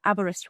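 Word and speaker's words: Aberystwyth: um to to pronounce it you would say abber abber like abber wrist like your wrist and with as in with you're here with us um so abberristw with um even people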